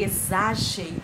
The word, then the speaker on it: exagero: exagero ou essa cheiro é exagero x com som de z a próxima palavra é